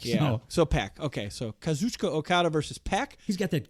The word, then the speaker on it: Kazuchika Okada: Kazuchika Okada?